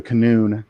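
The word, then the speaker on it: qanun: then a gentleman who plays the canoe so um which is spelled q-a-n-u-n or could be k-a-n-u-n know when you're spelling like arabic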